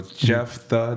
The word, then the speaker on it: Jefthah: i know it's unique that's actually my name so jeff the that's how it's pronounced but it's spelled j-e-f-t-h-a-h and that you type